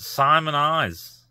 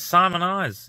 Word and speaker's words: Simoniz: Bolton in Connecticut so it is an American company pronounced simonize so it is simonize is right oh my God that